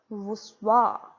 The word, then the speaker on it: voussoirs: Then we have the voussoirs. Voussoirs, they are spelled as VOUSSOIRS. Pardon my handwriting. It is spelled as VOUSSOIRS, but they are pronounced as voussoirs.